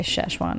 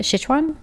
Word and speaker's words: Sichuan: Yeah, we say Szechuan as white people. All spicy, for spicy. How do you say it? Sichuan? Sichuan.